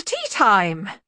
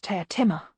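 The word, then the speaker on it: Teatime: the Hearth rug playing with the dogs Mr tea time it's pronounced tear Timmer sir set tea time with just a hint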